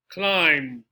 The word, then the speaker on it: climb: no debt debt right also for the b in this case within m and a b climb lamb numb thumb they all sound like this climb lamb numb thumb no b no climb lamb nope the t castle listen